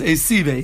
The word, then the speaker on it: Esive: Esive, or Esve, if you're Yeshivish, right? The dictic pronunciation is Esive.